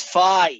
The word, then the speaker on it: phi: americans is it fi it's fi yes like in phone right you know it's